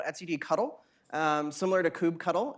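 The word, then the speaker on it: kubectl: HUD cuddle similar to Kubb cuddle it's pronounced cuddle if you say it any other way you're incorrect and what this is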